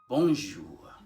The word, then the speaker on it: bonjour: it's not jew as in this english sound of jay jewel july you extract sh bonjour bonjour so in the former